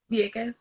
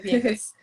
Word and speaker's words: Vieques: just the I don't think I can pronounce the name of the region where it was. Vieques. Yeah, Vieques.